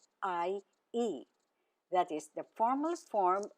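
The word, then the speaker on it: ihr: Now the informal form of you for singular is do and for the plural form it's e spelled Ir.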